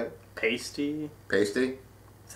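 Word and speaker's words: Paiste: Pasty? Pasty? That's how I hear it. Pasty? You're a drummer, so you should know this. I would say pasty. It's Pasty, pronounced gong, and what's that?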